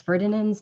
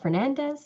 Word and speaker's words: Ferdinands: name pronounced wrong um it's ferdinands not fernandez so please if i